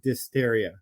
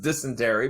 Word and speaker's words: dysentery: I want to die from dysteria. It's pronounced dysentery, but okay.